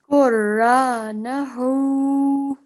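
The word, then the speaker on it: قرآنه: Qur'anahu. Okay, remember this alif is separate, so try and say that without joining it to the ra.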